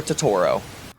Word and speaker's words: Totoro: then I finished the month with My Neighbor Totoro all right editor Brady here it's pronounced Totoro not Totoro I'm an idiot sorry